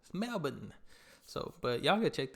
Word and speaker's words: Melbourne: saying in the beginning is Brisbane it's not Melbourne Melbourne so but y'all go check that out my